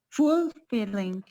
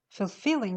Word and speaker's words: fulfilling: what was the word full feeling feeling fulfilling the stress is on the second syllable fulfilling not fully no fulfilling would you please